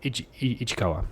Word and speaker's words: Ishikawa: I don't want to mispronounce it. Yeah, Ichikawa.